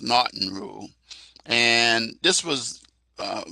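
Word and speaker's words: M'Naghten: says mnon but it's called nton Rule it's pronounced nton Rule and this was uh the one that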